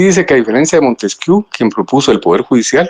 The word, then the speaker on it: Montesquieu: Pues es Montesquieu. Ah ah sí. Es Montesquieu. Muchas gracias por esa aclaración. voy a comenzar a corregir es Montesquieu. Muy bien, gracias. Montesquieu y se pronuncia Montesquieu, sí.